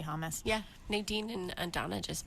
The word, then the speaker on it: hummus: I know some people say it like that, hummus. I just say hummus.